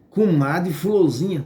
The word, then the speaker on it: Comadre Fulozinha: chamada de Cumade civis se pronuncia assim mesmo Comadre Fulozinha e as pessoas que